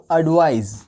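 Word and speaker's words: advise: यह एक नाउन है इसको एडवाइस क्या कहेंगे पीछे के जो साउंड है वो स आ रहा है और इसके पीछे का जो साउंड है वो ज आ रहा है क्या आ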